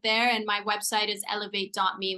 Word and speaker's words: Elivate: and my website is eLIVate.me, which is not spelled like elevate, it's spelled ELIVATE.me.